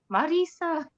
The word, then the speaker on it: Marisa: of you and Erin I love how you say my name Marisa um but that is the way you say it so that's awesome um